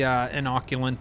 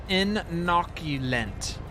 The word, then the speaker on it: inoculant: So now we got the inoculant in there.